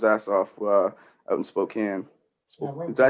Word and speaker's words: Spokane: ] yeah it's it's it's said not how it's spelled like i would say because it has the e at the end i want to say it's spokane right yeah they pronounce it spokane but uh no he's